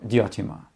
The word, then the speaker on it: Diotima: And Suzette even became the inspiration for one of his most important recurring female characters, Diotima, or Diotima, as she is sometimes pronounced.